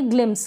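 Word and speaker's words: glimpse: gloss इसको हम पढ़ेंगे ग्लिम्स क्या पढ़ेंगे ग्लिम्स ग्लिम्स ही नहीं पढ़ेंगे जैसे कि ई का उच्चारण नहीं होता है लास्ट में तो ग्लिम्स पढ़ेंगे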